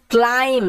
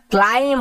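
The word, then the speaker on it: climb: মধ্যে he started to ক্লাইম্ব এটার উচ্চারণটা ক্লাইম্ব হবে না ক্লাইম্ব হবে বি সাইলেন্ট বি এর উচ্চারণ হয় না যখনই শব্দের শেষে এম এর পরে বি থাকবে বি সাইলেন্ট হবে বি এর উচ্চারণ হবে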